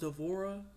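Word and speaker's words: Devorah: Actually they said that the name dborah is actually supposed to be pronounced d'vorah.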